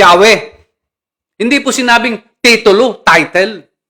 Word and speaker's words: Yahweh: Pero ang pronounce po doon ay talagang Yahwe.